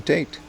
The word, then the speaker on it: Tate: No, I mean Tate. That's how you pronounce it, man. And the katakana is like Teito.